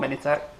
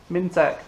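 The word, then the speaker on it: Mintex: that it's not called minitek it's called mintec there's no eye after the min i didn't even notice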